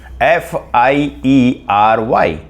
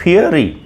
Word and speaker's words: fiery: This is pronounced as fiery. So until now I was really pronouncing it fury. Fury. This is wrong. So fiery is the right way of pronouncing this word.